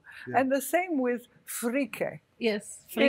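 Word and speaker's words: freekeh: And the same with frike. Yes, frike. In Arabic, it's ferik. In Egypt, it's ferik. But because it's Syria, actually Lebanon, that sells it. Yeah. So they say frike with an E-H at the end.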